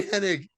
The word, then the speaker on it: Hennig: Butcher Boy Hennig. That's Larry Hennig. Is it? It's We'll gotta see. be. No. It's not? It's an Okay. actual Henning. Henning, Okay. yeah. I always, it was dude, Henning.